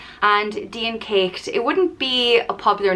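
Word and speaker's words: Dian Cécht: it's like a and there's a fada over the e and a fada is a accent that elongates the sound of the vowel and deen caked it wouldn't be a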